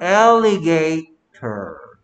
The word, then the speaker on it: alligator: 그래서 alligator 이렇게 된 거야.